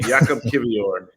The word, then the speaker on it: Jakub Kiwior: His name is Jakub Kiwior. Yep. I believe that's how it's pronounced too. I'll let you pronounce it from now on. My Polish is not the best, but Jakub Kiwior is how it's pronounced.